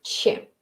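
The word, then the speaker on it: ч: Hay una que es, la misma de Chile, ¿sí? Che. Se escribe como una silla al revés, ¿sí? Che. No sé, es bastante parecida, solo que en Chile le dan un sonido un poco más como Chile, así.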